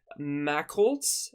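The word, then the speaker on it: Machholz: own tail so this comet is called 69p Mack Holtz uh you know I'm bad at pronouncing things m-a-c-h-h-o-l-z so yes there's two h's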